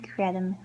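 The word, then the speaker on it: creidim: And next we have khred-im.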